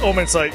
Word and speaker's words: Omnisight: Of course, did I say that right? Yes, Omnisight, yes. Omnisight, okay, that's how you say it, sorry.